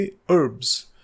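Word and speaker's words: herb: Medicinal properties हों, और इस वर्ड को ब्रिटिश लोग तो एच के साथ प्रोनाउंस करते हैं, हर्ब कहते हैं वो, लेकिन अमेरिकन्स एच नहीं बोलते, तो वो इसको प्रोनाउंस करेंगे हर्ब्स, और हर्बलिज्म कहते हैं वो इसको।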